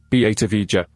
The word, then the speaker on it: Batavia: Batavia, Dutch pronunciation, Batavia, was a ship of the Dutch East India Company, VOC.